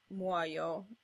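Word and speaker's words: muojo: In normal Italian words, J can pretty much be replaced with an I in contemporary spellings, so muoio can be read as muoio with an I.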